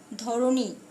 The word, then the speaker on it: ধরণী: যেমন দেখো, ধরণী, উচ্চারণ ধরণী করেছি, কিন্তু মূর্ধন্য ন আছে, আমি এখানে দন্ত ন দিয়েছি।